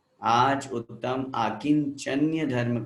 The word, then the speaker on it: आकिञ्चन्य: आकिंचन्य, बहुत से लोग आकिंचन आकिंचन करते हैं, गलत है वो शब्द, शुद्ध उच्चारण हमें आना चाहिए आकिंचन्य।